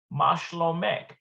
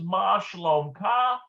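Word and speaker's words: שלומך: And so it's going to be in the now it's interesting because whether this is Ma shlomka or Ma shlomek, it's going to be spelled the same way.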